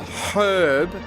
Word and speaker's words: herb: I don't know why American English insists that a herb has a silent H on it.